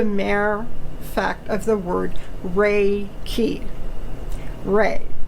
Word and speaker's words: Reiki: it is the mirror fact of the word ray key re how to spell it r e i k i ray r